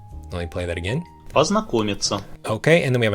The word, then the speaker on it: познакомиться: Познакомиться.